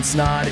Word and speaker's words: Snaadt: My name is Snod. It rhymes with Odd.